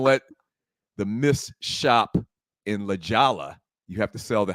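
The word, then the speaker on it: La Jolla: California just trust her is it spelled correctly that spells leala well well l a j o l l a Douglas it is spelled correct honey but Hispanic like a Hispanic term okay Spanish uh loose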